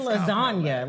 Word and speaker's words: lasagna: comp I don't know like the G and lasagna Lil Wayne said that